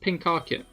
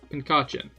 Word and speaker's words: Pincurchin: It's pronounced Pinkarchin. Pinkarchin.